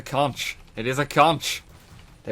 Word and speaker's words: Conch: full Contra mode then so tempted to say conqueror every time I pronounce this weapon but it is a conch it is a conch